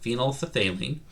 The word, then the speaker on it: phenolphthalein: to be ph paper phenolphthalein that's how you pronounce that phenolphthalein and litmus paper um so ph paper is